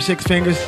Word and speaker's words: Six Fingaz: for me please well Facebook six fingers Instagram six fingers this is the right pronunciation the number six i X F I